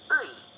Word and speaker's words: 의: And lastly, ui, also written as ui, is pronounced ui.